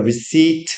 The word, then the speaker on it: receipt: Do you have the receipt with you? 자, receip. 자, P는 발음이 안 돼요. 그냥 receipt가 아니라 receip 영수중이란 뜻이죠.